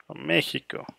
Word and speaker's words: México: Mexico. The correct pronunciation is Mexico.